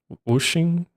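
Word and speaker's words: Wuxing: Wooing.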